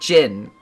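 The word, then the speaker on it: Djinn: I believe it's just jin, right? Kazus is the only place where they can craft such a ring, but with the curse. How can we hope to find a myth ring now? So, if I recall, there is a sword. Get your sword. There's a sword up here. Oh my god. Holy blood. It's pronounced just jin.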